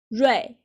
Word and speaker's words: Rui: told her like, oh, just pronounce as worry without wo, so it's like Ray. Actually, you can pronounce it. Try it. Ray.